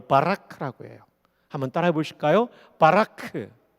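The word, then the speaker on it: ברך: 동사에 히브리 말로 바라라고 해요 한번 따라해 보실까요 바라크 발음 좋아요 거의 신대운 수준입니다 근데이 바라크라 동사는 뜻이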